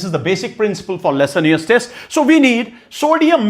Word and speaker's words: Lassaigne's: It is basically pronounced it as Lassaigne's test.